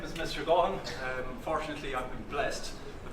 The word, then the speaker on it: Gaughan: Gaughan.